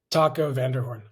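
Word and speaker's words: Taco van der Hoorn: So you are coached by your friend, and tell me his name because I'll probably mispronounce it. Taco Vanderhorn.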